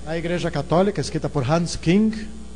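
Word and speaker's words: Hans Küng: Igreja Católica escrita por Hans King na verdade se escreve Hans Kun trado este homem é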